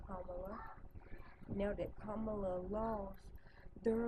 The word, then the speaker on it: Kamala: And now that Kamala, and I'm going to say it right, Kamala, now that Kamala lost, they're like, forget the world.